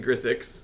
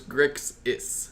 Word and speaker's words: Grixis: I'm pretty sure I'm pronouncing Grixix instead. You say Grixix. Yeah, Grixix. I'm switching the S and the X, so it's Grixis.